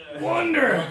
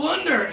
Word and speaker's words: wonder: one this one is I'm curious I wonder I wonder if I'll have a stomach ache after class because of this Oh wonder yeah probably okay gotta feel that pressure that pressure is important